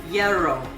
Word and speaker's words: gyro: the showarmada called it yarrow spelled like gyro but they don't pronounce the g they say and the r they roll it later shawarma was spread